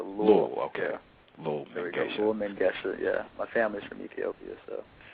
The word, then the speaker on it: Lull Mengesha: Lull Mengesha, yeah.